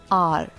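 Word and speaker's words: hour: For example, the word R and that is spelled H-O-U-R. The letter H is a consonant letter. यह एक consonant यानी व्यंजन है परंतु इसके pronunciation में एक vowel sound आ रही है and that is A.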